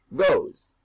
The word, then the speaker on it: goes: And that ES is pronounced like a Z. Go, goes. Do, does.